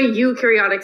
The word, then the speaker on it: eukaryotic: those okay so a eukaryotic cell eukaryotic you have eukaryotic cells it literally has you in this pronunciation there okay a eukaryotic cell